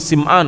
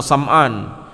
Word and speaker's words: Sim'an: Wa minha, dan diantara dalil dari sunnah adalah majaa fi hadits Nawas ibni Sim'an atau Sam'an, boleh dibaca Sam'an, dan guru kami Syekh Dr. Saleh Al-Utsaimin membacanya Sim'an radhiyallahu anhu, semoga Allah taala meridhai beliau.